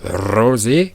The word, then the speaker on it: Rose: naquirent trois filles maria rose ou rosé car c'est ça la prononciation en vo c'est comme black